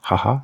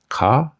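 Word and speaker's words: 母: we just saw that this kanji can be pronounced haha in the word haha or Haya which means mother but it can also be pronounced Ka as in okasan which also means mother or Mom and this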